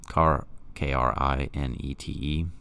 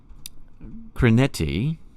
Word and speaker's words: krinete: The Greek word for judge in Matthew 7:1, krinete, K-R-I-N-E-T-E, right? To pronounce it, krinete or something, yeah?